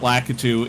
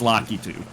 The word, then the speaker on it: Lakitu: Apparently, the official pronunciation is l is uh is lock. It's not Lu. It's not Lacatu. It's Lockitu.